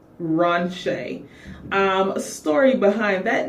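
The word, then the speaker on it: Ronsha: So my middle name is Ron Shay. So it is spelled R O N S H A. Ron Shay.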